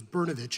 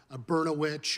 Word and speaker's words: Bernich: the fourth grade that I realized my name was bernich and not berno witch or brosaurus vit or any other words that rhyme with that that's just what the